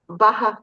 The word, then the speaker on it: Baja: Baja California. Oh, Baja. Okay, I was Baja.